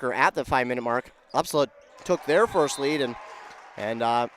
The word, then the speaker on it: Upsala: The Upsala ball is how you say it.